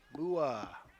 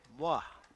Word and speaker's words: Muoa: Number 13, Joey Mua. Moi. Looking at the pronunciation guide, I guess it's moi.